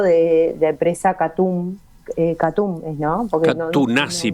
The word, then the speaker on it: Katoen Natie: Catunasi parece que es la forma de pronunciarlo.